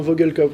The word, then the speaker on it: Vogelkop: toi et puis ton entreprise, donc Vogelkop, je C'est ça, prononce de la bonne manière? Exactement, Vogelkop, ouais, exactement.